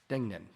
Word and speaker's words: Degnan: We have one item and it is a cultural arts presentation by Dana Degnan. Did I pronounce that right, Dan? Yeah. Yeah, yeah.